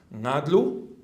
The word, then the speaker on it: Ngadlu: Ngadlu, we, with a nga. You don't have it in Greek. Nga at the beginning of a syllable does not exist, but in Aboriginal language we have nga, nga.